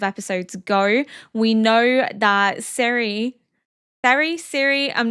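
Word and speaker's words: Serie: We know that Siri, I'm not sure. I've been saying Siri, but I think it's probably Seri. I've most likely been butchering it.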